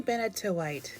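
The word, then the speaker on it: Benitoite: And this is Lamy Benetowite. Yes, I looked up how to pronounce that.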